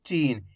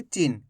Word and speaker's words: चीन: और क्लियर कर दो कैसे पढ़ेंगे अपन चीन खीच पढ़ेंगे चीन ऐसे नहीं पढ़ेंगे चिन्न अगर आप चिन्न पढ़ दोगे तो इस तरीके से छोटी ई की मात्रा का उच्चारण हो जाएगा खीच खींच के पढ़ेंगे चीन कैसे पढ़ेंगे चीन चीन नहीं पढ़ना चीन क्लियर है अब